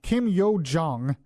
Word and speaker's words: Kim Yo-jong: I keep getting her name wrong. Kim Yo-jong.